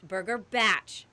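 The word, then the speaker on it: Burger Bach: the record it's pronounced burger batch knock knock it's short for bachelor pad in New Zealand little vacation houses are batches the menu features all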